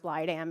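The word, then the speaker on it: Blegdam: And the story is set at the Blydam Hospital. It's actually pronounced Blydam in Danish.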